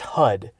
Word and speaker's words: HUD: It's pronounced HUD. Heads up display, not hood.